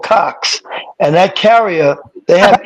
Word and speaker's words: Cox: Cox. All right. Say it again. I'm sorry, I couldn't hear that. COX. Okay. COX. Cox. Oh, Coke. Cokes.